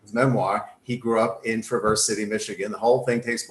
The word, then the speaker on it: Traverse City: are from michigan yeah from michigan it's actually pronounced traverse city yeah unlike we've reversed the snow it is